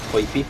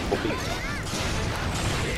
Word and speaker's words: Poipy: Remember that it's Poipy, not Poppy. It's Poopy, not Poppy. Poipy.